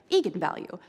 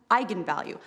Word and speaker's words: eigenvalue: but I wasn't quite sure on how to pronounce it looked to me like vegan value so right I mean I think that's what